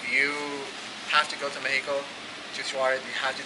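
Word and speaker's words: México: they don't realize that they have to say it's Mexico. Not Mexico. Because when I was growing up, I thought you pronounce it with the X, so it's like Mexico and shit.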